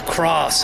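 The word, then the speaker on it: Kroos: It's Cross. I think it's pronounced Tony Cross.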